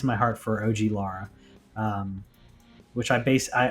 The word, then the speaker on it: Lara: my heart for og lara um which i base i also i think we talked about this before like i used to call her laura croft i'm trying to pronounce it as lara because that's yeah i